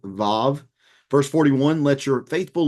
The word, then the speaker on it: Vav: The W is often pronounced with a V sound, Vav.